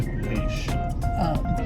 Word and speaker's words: Heche: Anne Heche.